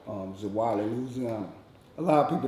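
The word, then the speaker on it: Zwolle: before i'm originally from a town called um zawali louisiana a lot of people don't know uh about that city because it's just such a small city expel that spell that now zuwali z-w-o-l-l-e that's correct spelling is wild of louisiana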